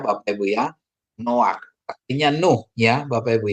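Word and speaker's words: נֹחַ: kan no gitu ya aturannya bacanya Noka secara bacaan biasa tapi bukan dibaca Noka tapi baca no no ya Bapak Ibu ya noak artinya Nuh ya Bapak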